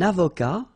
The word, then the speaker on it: avocat: Un avocat, so remember, liaison here, and then final T not pronounced, okay? Un avocat.